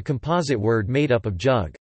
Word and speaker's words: jug: The name Yugoslavia, an anglicized transcription of Jugoslavia, is a composite word made up of jug, yug, with the J pronounced like an English Y, and Slavia.